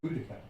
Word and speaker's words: Boudicca: It's Boudica.